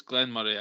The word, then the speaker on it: Glenmorangie: I think it's Glenmorangie actually, but I always pronounced it wrong.